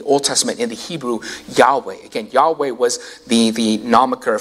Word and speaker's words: Yahweh: Because again, in Hebrew, there are no vowels, so it's just consonants. And so Yahweh is, again, just the best that we could pronounce it.